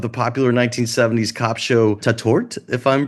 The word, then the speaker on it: Tatort: the reboot of the popular 1970s cop show tatort if I'm pronouncing it right am I pronouncing it right